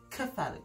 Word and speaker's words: cephalic: same prefix as kefo so for instance the cephalic vein is pronounced in the uk as the catholic vein and also in the